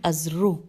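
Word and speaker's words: أذرح: کہ دونوں لشکر مقام ازرو، الف پہ زبر ہے، زال رے پہ پیش ہے اور ہے، ازرو یا دومت الجندل، اس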